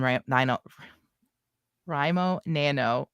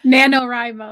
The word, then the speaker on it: NaNoWriMo: a whole lot of i gave up on ram rimo nano right is that right doesn't sound right in my head anymore nanowrimo that's right because i said it wrong i need